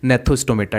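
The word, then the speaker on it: Gnathostomata: जी यहाँ पर थोड़ा साइलेंट रहेगा इसलिए इसकी प्रोनाउंसिएशन होगी नेथोस्टोमेटा।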